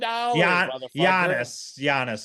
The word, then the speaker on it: Giannis: Giannis is how you actually pronounce.